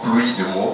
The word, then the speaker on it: PLU-OUI-DE-MO: voyez qui est découpé qui se prononce pluie de mot comme une pluie de mot mais découpé avec plu comme plus euh oui comme vous l'entendez et deux mot donc pour dire que